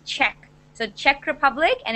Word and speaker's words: Czech: because I'm I'm not too sure it's it's pronounced Czech so Czech Republic and its capital is Prague